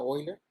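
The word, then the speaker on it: Euler: esta palabra se pronuncia oiga es un nombre alemán es como la palabra de freud freud suscríbete fraude pues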